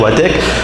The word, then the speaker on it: Wathek: La vraie prononciation, c'est Watek, mais je vous autorise de le dire Watek, il n'y a pas de problème.